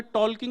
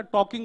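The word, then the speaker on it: talking: इन्होंने मुझे तुरंत समझाया बोले टॉलकिंग नहीं होता टॉकिंग होता है। एल साइलेंट होता है।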